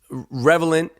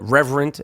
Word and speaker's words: Revenant: I was real happy that Leonardo DiCaprio won for Revenant. I feel like every time I say the title of that movie, I pronounce it differently. I know I've called it Reverent.